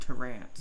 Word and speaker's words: Terrence: And it's spelled Terrence, but it's pronounced Terrance.